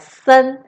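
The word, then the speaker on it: 森: so many moo right this character is pronounced as sun and as you can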